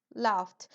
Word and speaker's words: laughed: té watched y LED laughed entonces Love es reers Love es reírse esa gh final se pronuncia casi como una F Entonces le agregan una